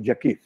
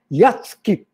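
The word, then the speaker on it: Jackiw: he told jake hi you are a guy who pronoun mispronounces his own name so he was uh lavagusted he said what do you mean you see this is the polish yasuki and you're calling yourself jackie that's not allowed see he knew all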